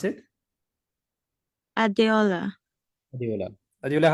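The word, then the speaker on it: Adeola: e o l a so how do you pronounce it adola adola adola how are you I'm okay so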